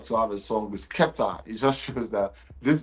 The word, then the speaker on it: Skepta: I go say, "Mommy, Skepta." She go say, "Sorry, sorry, sorry. Oh, yeah, Skesta."